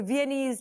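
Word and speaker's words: Viennese: इट्स नॉट so complicated so विनीज like चाइनीज ऑफ विएना एंड the dance we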